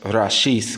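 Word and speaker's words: Reshit: It's pronounced Rashith, which is Hebrew for beginning or first.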